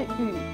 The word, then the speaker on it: 雨: 雨的读音有两种，分别是 “ 雨 ” 以及 “ 玉 ”，部首是